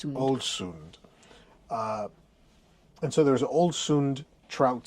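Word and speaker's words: Ålesund: Um but there was a a trout salad that said it was from Can you pronounce the city we were in today correctly again? Olsund. Olsund.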